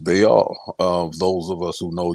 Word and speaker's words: Baal: JJ 7000 knows, it's some people have pronounced it ball, but it is pronounced Baal.